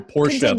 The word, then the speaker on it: Porsche: thing I was like if you can't say Porsche in two syllables you're not allowed to own one and I was like